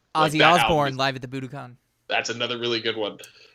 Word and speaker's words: Budokan: can i get to buda con she's like i said and she didn't know what i was talking about oh budokan i said it wrong that's how i know